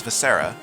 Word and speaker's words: Viscera: name she introduced herself my name is visera then says pronounced this ere uh the little grown nose is pronounced this era you just said it